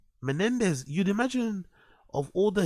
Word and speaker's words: Menendez: from like how how how do you get there Menendez you'd imagine of all